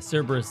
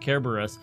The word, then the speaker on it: Cerberus: dropped another fun tank Cerberus is actually pronounced Kerberos which is basically ancient Greek for spotted yes hades named his